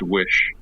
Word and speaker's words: Oysi: and decided I'd just take the four middle letters from my name that are pronounced Wish.